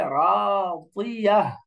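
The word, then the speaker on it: راضية: রাদিয়াতিন, ওয়াকফ করলে রাদিয়াহ, বাদ, রাদিয়াহ, মোটা করে রাদিয়াহ।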